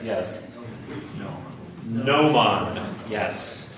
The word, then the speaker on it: gnomon: Gnomon, yes. A gnomon, like new, nice.